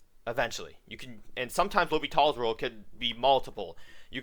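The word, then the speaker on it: L'Hôpital: how to solve limits using Li Tall's rule or what a lot of students like to call it L hospitals rule if you have heard about it because the French name is harder to pronounce I guess but basically Li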